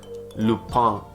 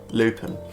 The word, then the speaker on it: Lupin: on netflix yesterday it's a french show called lupang or as people would pronounce it from where i live lupin inspired by the adventures of arsene lupa gentleman